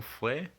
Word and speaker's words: frère: And on frère, you still get the air sound in the RE.